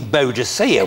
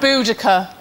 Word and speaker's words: Boudica: Well, look, Miranda, I know we're getting to the end of the show, but there's no need to go all Queen Boadicea with me. Boudica.